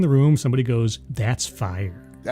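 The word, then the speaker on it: Phyre: Um you are playing a vampire called Fire. You don't get to change your name. Uh, it's spelled P H Y R E because that's cool, you know, because it has to be.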